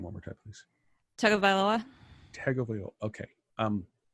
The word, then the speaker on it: Tagovailoa: Pronounce the last name one more time, please. Tagovailoa.